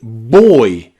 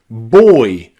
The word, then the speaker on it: boy: O-Y is also nearly always pronounced oi, like in boy, boy, or toy, toy, or soy, soy, or even employ, employ.